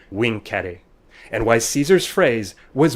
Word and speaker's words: vincere: of this is why when romans talked about conquering they said wing carey and why caesar's phrase